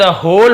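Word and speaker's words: whole: टू द होल matter, होल, फिर यहाँ पे W साइलेंट है, होल यानी पूरा, मैटर ने मामला, पूरे मामले को सुना।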